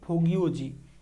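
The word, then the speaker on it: Fo Guo Ji: লেখা বইটির নাম কি ফোগিওজি বা ফো কিউ কি এটাকে উচ্চারণ হচ্ছে ফোগিওজি ঠিক আছে আরেকটা হচ্ছে হোয়েনসাং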